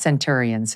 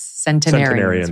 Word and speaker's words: centenarians: pronounce it right, but it's not centurions, it's centenarians, right?